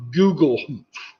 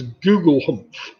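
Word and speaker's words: Gugelhupf: The shape is inspired by a traditional European cake known as Gugelhumpf.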